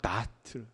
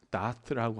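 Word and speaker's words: דעת: 히브리어로 발음할 때 다트 다트라고 하는데 이것은 뭐냐면 그냥 아는 것.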